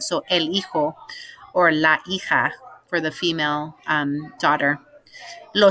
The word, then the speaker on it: el hijo: we're going to say remember that j is like an h and the h is that we see written is is silent so elijo for the female daughter